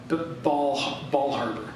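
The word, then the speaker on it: Bal Harbour: There's a shul down in Bell Harbor, Ball Harbor, not Bell Harbor, Ball Harbor down in Bal Harbor.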